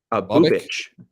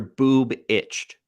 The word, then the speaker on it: Bubic: Bubich. So like if your boob itched. Literally, that's what it says in the pronunciation. Is it says boob itch.